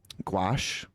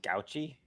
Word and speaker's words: gauche: Gouache? How do you say that? I don't know. Gouache? Gouache? I think it's gouache. Yeah. It's actually gouchy.